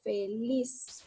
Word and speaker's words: feliz: Aquí yo observo, divido en sílaba y digo feliz. Aquí yo elevo la voz, entonces allí recae mi acento. Ahí está el acento.